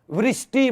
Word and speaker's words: वृष्टि: इस तरीके से करेंगे तो वे के साथ री की मात्रा थी, इसलिए इस शब्द को क्या बोलते? वृष्टि बोलते हैं।